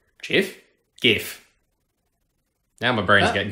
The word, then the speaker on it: GIF: No, if it was GIF, would be spelt with a J, not a G, as in GIF, the cleaning product. GIF, because you fall down into a G noise. G, you slide down, so it is GIF.